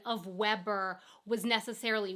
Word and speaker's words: Weber: Like, I'm not saying that his pronunciation of Weber was necessarily wrong, because I haven't seen a commercial. Maybe here in Germany, the Weber grill is pronounced Weber, because that makes sense. That's how you would say Weber.